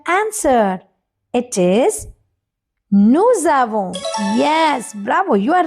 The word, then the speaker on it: nous avons: We say nous avons because S we have to connect with A. So it is nous avons.